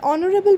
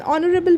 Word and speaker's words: honorable: now in case of these an hour an honorable person or an honorary post in those cases